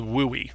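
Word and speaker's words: WUE: seven hundred dollars now there's something called woo-wee I don't know if you've heard this but it's pronounced that way you'll hear we schools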